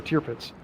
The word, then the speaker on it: Tirpitz: couple questions here um is tirpitz pronounced serpents or tear pits my opinion is is as long as people understand what you're saying but the german translation is cheerful i could go days